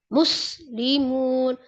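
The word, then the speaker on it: مسلمون: Tapi juga enggak enggak berlebihan karena berah iya muslimun. Muslimun gitu aja ya. Muslimun. Iya dia hurufnya tipis juga kan enggak dihentak-hentak gitu. Enggak dinabar. Cara baca um mus itu kan nabr. Kenapa muyya itu damahnya juga kan enggak sempurna. Tapi kalau muslimun kan sempurna.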